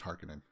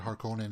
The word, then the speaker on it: Harkonnen: to include much more harkening stuff harkonnen it's pronounced harkening you guys are you guys in the same boat with that with me uh for years you'd call it harkonnen and now it's hark in it but doom